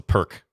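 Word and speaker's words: Pirc: A Pirtz, also known as the perk. One of those pronunciations that has become commonplace, even though Pirtz is technically correct.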